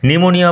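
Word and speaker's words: pneumonia: নিউমোনিয়া বানান লক্ষ্য করো। P will remain silent.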